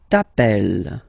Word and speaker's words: t'appelles: All right, second form, tu t'appelles. Okay, remember, final S not pronounced.